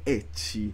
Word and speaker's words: ecchi: Bayonetta non è un gioco ecchi. Ecchi, che è scritto semplicemente con l'H molte volte, la pronuncia giapponese English della lettera H, che non è hentai.